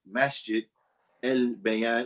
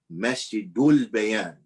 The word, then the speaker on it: Masjidul Bayan: And Sheikh Dawood, he said, listen, if we're going to call it Masjid Al Bayan, or we're going to call it Masjid Bayan, then we're going to say it right. So write it Masjidul Bayan and let it be known like that. And the people get used to saying it like that.